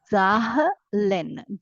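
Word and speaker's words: zehn: read it Asen and remember there is no silent letter as such in germano as unlike in English no silent letters we are going to pronounce all the letters so it is zahen zahen zahen 1 to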